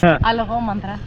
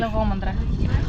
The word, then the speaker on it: Alogomandra: And again, I'm going to let the young Greeks pronounce the name of the beach. Alogomandra. Say it again, please. Alogomandra.